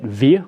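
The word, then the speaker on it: wir: are we see that Veer which begins with a W it's pronounced like a V but it begins with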